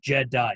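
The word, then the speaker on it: Je'daii: Most of it has been it talks a lot about the Jedi, not the Jedi, the Jedi. It's different, it's spelled funny.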